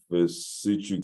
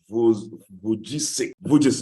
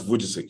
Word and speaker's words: Vujicic: I have a hard time pronouncing his name. Pastor Vizishik, somebody help me out, please. Pastor Nicholas Vujicic, yeah. Thank you, precious. Nicholas Vujicic, yeah. I think it's not that difficult. Vujicic.